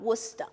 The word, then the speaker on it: Worcester: no that's not all the pronounce it it spelled like that yeah and then came here it's called Worcester yes yes it is I don't see it